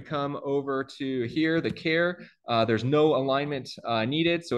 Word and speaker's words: char: C programmer because uh this is obviously short for character and nobody says character they say character so this should be pronounced care and not char um